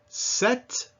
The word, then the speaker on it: sept: Sept, the number 7. Pêche, meaning peach. Now, you can see that these are not all spelled the same way, but they all have that same sound, eh.